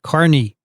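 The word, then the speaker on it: Kearny: we have a town called k-e-a-r-n-y and we pronounce it carney so i knew how to do that it's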